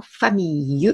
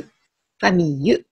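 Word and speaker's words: famille: いう意味のをこの単語これもファミーユファミーユいうふうに湯というふうに ll を発音しますところがですね同じ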